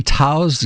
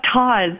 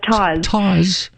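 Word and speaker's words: Tawse: tell me about this am i pronouncing correctly tao's gaming noir okay that's todd that's todd yeah so taz is in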